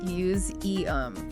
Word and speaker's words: museum: Museum has that voice Z sound in the middle. Muse e. Muse eum. Got it.